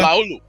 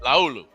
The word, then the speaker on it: Laulu: How do you fucking say it? Leola? Laulu. That's how you say it. Laulu.